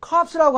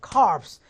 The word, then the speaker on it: corpse: 그래서 여러분들 코에 대해서 절대 이걸 갖다가 corpse라고 하면 해병대 시체가 돼버리는 거니까 이건 그대로 발음하셔야 돼요. corpse. P자 발음하고 이자도 빼시면 안 돼요.